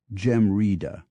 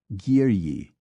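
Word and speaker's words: geimhreadh: some deep semantic issue try pronouncing GE e m h re e e a DH Gaelic for winter and you will probably come up with something like Gema it is in fact giri b a u d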